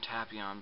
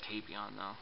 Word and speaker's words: Tapion: I always called him Tapion before I actually saw the movie, so I have to like stop and think for a second. They pronounce it Tapion though.